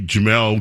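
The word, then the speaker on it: Jemele: Ji Jamal.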